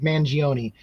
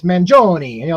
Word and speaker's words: Mangione: I said Mangione, and then somebody would bust my balls. You need to learn how to pronounce it. It's Mangione, like kind of like an Italian, like Mangione.